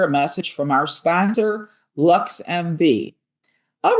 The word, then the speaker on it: LXMV: LXMV, pronounced Lux MV, is Chicago's first ever